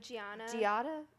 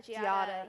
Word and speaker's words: Giada: ever say her name right G Italian oh Gianna Giada Giada yeah her and also um the Barefoot Contessa